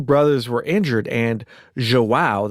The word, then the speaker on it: João: brothers were injured, and João, that's how you pronounce that, J-O-A-O, João was actually dead. And I'm probably mispronouncing that a little bit, but it's a lot closer than it was.